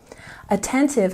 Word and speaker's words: attentive: Attentive has stress on the second syllable.